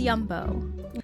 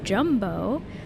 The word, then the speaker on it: Jumbo: This is Yumbo. Okay, I definitely can't hate on the the kitty counter, which I learned is not in fact pronounced jumbo, but yumbo.